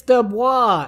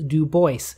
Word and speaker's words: Du Bois: the oy in voice the accent is on the second syllable very clearly here he is making